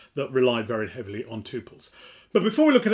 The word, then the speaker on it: tuple: Not that it matters at all, I call it a tuple because I say quintuple, though you will hear